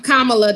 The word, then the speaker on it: Kamala: Kamala, that's a HU graduate like myself.